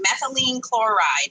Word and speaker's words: methylene chloride: So there are other, I'm going to say this wrong, methylene chloride, right?